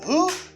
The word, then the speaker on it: who: You say who. When I'm talking about qui, I say who. You know, who. Qui es-tu? Who are you? Not who are you. Because you do not pronounce W in this word.